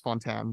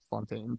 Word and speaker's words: Fontaine: one again that's Al it's Fontan but they freaking just said Fontaine for some reason um